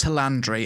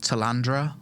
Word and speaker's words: Talandre: what you could expect to see so it's pronounced tandry I've been pronouncing it completely wrong every time I've been calling it Tandra or something tandre got it with the new